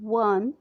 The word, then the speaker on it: one: 5, we say a 1 rupee coin, not an 1 rupee coin, as we pronounce O in one as W in won.